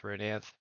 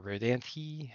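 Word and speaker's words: Rodanthe: So that's the case with Rodanth or Rodanthi, as the case may be, depending on how you pronounce it.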